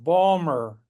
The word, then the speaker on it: Baltimore: Well, Baltimore is pronounced Balmer by the locals.